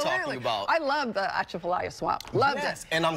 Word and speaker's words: Atchafalaya: I love the Atchafalaya swamp. Loved it. And I'm glad that you actually pronounced it right.